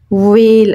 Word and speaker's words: whale: okay so this is w and we say whale over here and whale has a whistle so